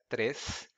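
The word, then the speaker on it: três: some notes about pronunciation depending on the place the person comes from he or she's going to say to pronounce the number trace as trace and the number there at 10:10 as deaths or days in my region we pronounce it as trays and days and some people might object to that but both are accepted and now I propose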